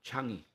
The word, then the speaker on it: Changi: Ang Changi Airport. Kung saan pag-pronounce surname sa SEDA, ang airport sa Singapore, Changi.